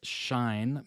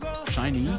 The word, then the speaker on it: SHINee: By the way, SHINee, you pronounce the E's at the end. Oh, SHINee?